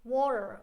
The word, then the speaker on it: water: a different sound it's water okay and they don't pronounce the T like - it becomes like halfway between a D and an R okay so water were I